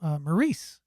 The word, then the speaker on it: Maurice: Also, Maurice, which rhymes with Denise.